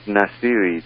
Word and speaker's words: Nassiri: h m a n and last name is nasiri that's n a s s i r i